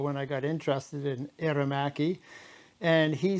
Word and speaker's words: Aermacchi: from someone else, and they say that I'm pronouncing Aermacchi wrong. I've been saying it the same way for a lot of years, and he thinks that I should say it Aermacchi.